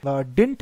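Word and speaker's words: didn't: तो डिडंट हम इसे ब्रिटिश प्रोनंसिएशन में पढ़ते हैं जबकि डिंट इसे हम अमेरिकन प्रोनंसिएशन में पढ़ते हैं। तो डिंट American, डिडंट British pronunciation, दोनों प्रोनाउंसिएशन करेक्ट है आपकी, जो भी आप पढ़ना चाहे।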